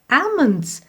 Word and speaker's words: almonds: these are Edmonds okay now here I will be silent okay we will not pronounce the sound of this letter so we will read this letter like a man's desire almonds okay a a at